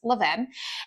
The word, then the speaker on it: Levain: I was like, "Okay, first and foremost, tell me how I'm supposed to be pronouncing this bakery." And he says it's Leven.